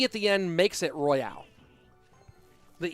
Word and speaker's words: Royale: that woke me up is it pronounced Clash Royale or Clash well okay the thing is the E makes it Royale so M me Mick Steve if you're trying to say Clash Royale versus Clash royal royal would not have